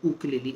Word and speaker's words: ukulele: makala mkte ukulele it's a tenner ukulele or ukulele as uh that's the original pronunciation from hawaii so i'm just going